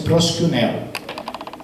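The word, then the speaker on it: προσκυνέω: Tem um i lá, mas a pronúncia é proskuneo, que é o equivalente da palavra em hebraico shahar, né?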